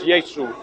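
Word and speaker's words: يسوع: not East Side Arabic, it's Yesu in Arabic. Okay. A lot of the Arab Christians have told me that's the true pronunciation.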